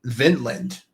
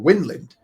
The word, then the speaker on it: Vinland: was they called it Vinland. Oh. Or or Windland. We win. In a sense, mainly because they never pronounced their V's as V's. It would be like W.